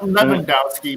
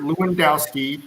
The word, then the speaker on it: Lewandowski: world world-class go ahead leondowski not lendowski because that he's not german he's polish okay polish will pronounce that w so it's robert lewandowski from poland the best striker in